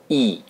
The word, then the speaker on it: e: the romanian alphabet is e it is pronounced like the double e in beat the target vocabulary for